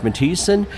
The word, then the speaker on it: Matthiesen: house.mo.gov that's house.mo.gov look for my name matis and give my office a call spell that one time for us it is m